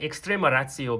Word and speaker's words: Extrema Ratio: And yes, you can hear it, it's like Extrema Ratio because I'm pretty sure that the Italians pronounce it that way.